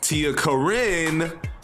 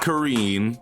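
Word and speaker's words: Tia Corine: definitely a valid pick Tia Karin not Karine because I was so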